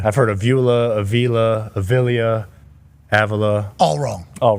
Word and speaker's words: Avila: Robbie Avila? Avila, yep. Is that the best that anybody's pronounced it? I've heard a lot worse, yes. I've only heard of Via. I've only heard of Via too, so it's good to but know. It's Avila, yeah.